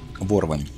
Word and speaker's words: ворвань: Второе. Ворвань. Ударение на О.